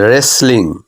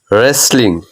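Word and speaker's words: wrestling: এর উচ্চারণ হচ্ছে না ডাব্লিউ এর পরে যদি আর থাকে বা এইচ থাকে তখন ডাব্লিউ এর উচ্চারণ সাধারণত হয় না দেখো এখানে রাইট ডাব্লিউ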